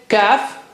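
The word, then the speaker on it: كاف: How do you say kaf? It's just like K of English. Touch the inner part of the tongue to the roof of the mouth right at the back.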